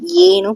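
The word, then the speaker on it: यह: ஸோ யஹ் ஏன்னு pronounce பண்ணுவாங்க.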